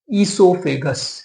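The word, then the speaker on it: oesophagus: अभी तक आप उसको, आपको पता होगा फूड पाइप बोलते हैं, पर अभी इसको नया नाम देंगे अपन, ईसोफेगस। क्या देंगे? ईसोफेगस।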